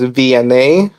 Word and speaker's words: Vianey: And my little sister's name is Vianney. It's spelled Vianey.